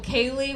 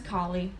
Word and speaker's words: Kali: you pronounce my last name is Kali it comes from bin Khalifa my dad is Moroccan